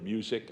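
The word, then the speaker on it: Musick: elements of the inside the architect was G Meredith music I think that's how it's pronounced it's m-u-s-i-c-k and there are artworks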